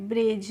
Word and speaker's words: bridge: तो फ्रेंड्स इसको हम पढ़ते हैं ब्रिज। ब्रिज क्यों पढ़ते हैं? क्योंकि यहाँ पे जो डी होती है वो क्या होती है? साइलेंट होती है, इसीलिए हम इसका प्रोनाउंसिएशन नहीं करते हैं। तो पढ़ेंगे हम इसको ब्रिज।